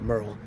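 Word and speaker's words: Meryl: It's spelled it's pronounced Merl, but spelled like Merurl Street. So I think M E R Y L, but pronounced Merl.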